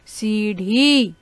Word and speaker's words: सीढ़ी: सीढ़ी, देखिए सीढ़ी में हम क्या लिख रहे हैं, ढ के नीचे जब हम एक छोटी सी बिंदी लगा देते हैं तो उसका उच्चारण हम करते हैं सीढ़ी, ठीक है बेटा।